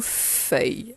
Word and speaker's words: feuille: ES, et le mot feuille. Alors, feuille, j'entends le son F. Et ensuite, il y a le son œil. Celui-là, il est un peu compliqué, on l'a jamais vu. Il s'écrit E-U-I-L.